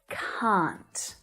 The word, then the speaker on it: can't: were practicing earlier right can't in my accent it sounds like the word c but with a n on the end okay can't can't now